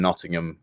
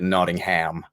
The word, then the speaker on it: Nottingham: and I've been in Nottingham for uh about five years now the Americans call it notingham not Nottingham we call it Nottingham is how you guys